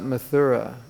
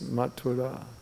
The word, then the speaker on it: Mathura: you don't know it's not mathura it's matura because in Sanskrit when you have an H after a t it's not th it's t m as